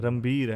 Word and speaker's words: रणबीर: रणबीर है, रणबीर, हाँ वो रणवीर सिंह है, ये रणबीर कपूर है।